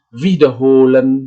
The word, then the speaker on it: wiederholen: Di sini adalah penekanan pengucapannya itu berada di bagian yang saya cetak tebal di tengah, ya. Beginnen, erklären, verbessern, verlassen, verstehen, wiederholen, ya. Itulah, ya.